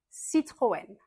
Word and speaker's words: Citroën: Renault Renault Citroën Citroen Citroën et une voiture très célèbre de chez Citroën, une voiture typique française de l'époque, c'était la de chevaux.